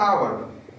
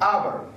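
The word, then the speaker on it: hour: کیلومتر پ می پیمای ساعت به انگلیسی میگن اور ا تلفظ نمیش یاد شما باشه ه نمیگیم اور ا غیر محفوظه ساعت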